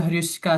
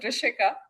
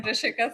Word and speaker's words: Rishika: uh actually it pronounced as Rashika so I'll give my introduction I'm Rishika uh I belong